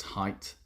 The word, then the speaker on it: height: weight with a w of course but it's pronounced height yeah okay uh five debra was predict furious